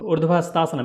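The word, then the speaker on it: Urdhva Hastasana: Urdhvahastaasana means you are taking your hands up, going a little bit backward, and that name of asana is Urdhvahastaasana.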